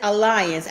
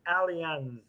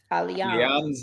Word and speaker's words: Allianz: EM74 said it's Allianz. Allianz.